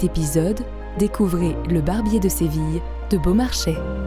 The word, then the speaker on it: Séville: de séville de beaumarchais mais vous l'avez peut-être déjà entendu prononcer ainsi le barbier de seville qui correspond probablement à la façon dont on le disait au xviiie siècle mais au meilleur résumé nous avons choisi la manière moderne séville allez c'est parti direction